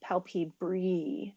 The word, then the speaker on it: palpebrae: much what I know in classical Latin the AE can be pronounced with a long e palpebrae so that is actually